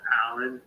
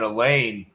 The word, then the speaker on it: Alan: my first name is it's pronounced Alan but it's also pronounced Al ah I think when I left you a voicemail yesterday I said a lane uh because I I was just kind of guessing you know I I